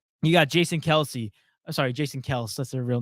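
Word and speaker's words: Kelce: It's like it's actually not Kelsey. No, it's actually Kels. Like everyone's been saying it wrong.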